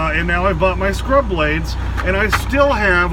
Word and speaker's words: Scrubblades: you end up mashing them together so it's scrub blade like it's one word and that's one of